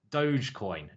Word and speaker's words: Dogecoin: him out on Twitter if you want any dogcoin advice is it is it Dogecoin or dogcoin um Lewis you can shout in my ear how do you pronounce it Dogecoin Dogecoin okay Dogecoin if you want any Dogecoin